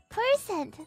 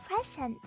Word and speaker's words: percent: how you say it no it's 100% percent not present 100% that's how I've always